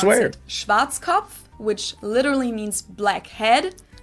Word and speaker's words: Schwarzkopf: We just In create a German, new we English pronounce word. it Schwarzkopf, which literally means black head. Schwarzkopf. English native speakers usually pronounce it Schwarzkopf or Yep, Schwarzkopf Schwarzkopf.